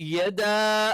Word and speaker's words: يدا: യ എന്നുള്ള യെ ആയി പോകരുത്, യ എന്ന് കറക്റ്റ് പറയണം.